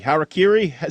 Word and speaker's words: Harakiri: Harakiri say say it for me one more time so I never say it wrong again.